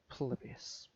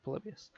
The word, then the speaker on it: Polybius: We're going to be talking about Polybius, or Polybius, if that's how you No, prefer to pronounce it. it's But it's definitely Polybius.